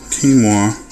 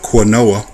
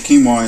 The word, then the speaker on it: quinoa: saw a package of quinoa I tried to sound it out the way that it's spelled came up with quoa so uh those are